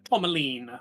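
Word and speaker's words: tourmaline: I'm thinking of maybe making uh the tormalin. That's an awful gem name, but it's a pink gem and it's for hope, innocent, and creativity. Uh, tomlene would be how to pronounce it, but moonstone would be fitting.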